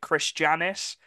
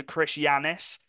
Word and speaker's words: Chris Janis: Janis I think I I don't think you pronounce it Chris Janis I think you pronounced the J as a y so Chris Janis so yeah um we'll